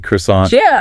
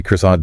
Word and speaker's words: croissant: He pronounces it with the perfect original French inflection. You know, the soft N, the stress at the very end.